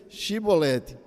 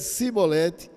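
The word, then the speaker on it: שיבולת: Se respondesse não, diziam: então diga Shibolete. Se ele dissesse Sibolete, sem conseguir pronunciar corretamente a palavra, prendiam-no e matavam no lugar de passagem do Jordão.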